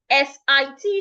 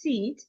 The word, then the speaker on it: sit: So it's not seed. S I T should not be pronounced seat. It is pronounced sit sit.